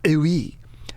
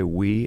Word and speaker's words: oui: Oui. You know, a common mispronunciation is we say we as Americans. It's actually oui.